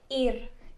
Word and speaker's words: ir: Ir.